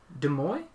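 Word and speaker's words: Demoux: uh is it demo de moy in fr i always give it the french pronunciation which sounds weird in english but in french it would be the move right yeah okay so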